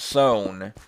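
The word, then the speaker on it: Sohn: Because I was watching a Mysteries at the Museum thing, and they were talking about a guy with the last name S-O-H-N, and they pronounced it Son, and I realized when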